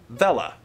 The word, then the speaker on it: Vella: Ve, as in Venice, and La, as in llama. Vella.